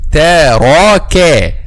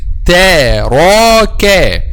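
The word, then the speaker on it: تَرَكَ: Taraka. The back of the tongue will be raised just when we pronounce a ra, but the kaf is not.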